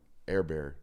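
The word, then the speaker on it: Hebert: saw a T-Bob on airbear is that how you pronounce that um it looks like Herbert but it's actually air bear apparently um that's how he pronounced it I saw him on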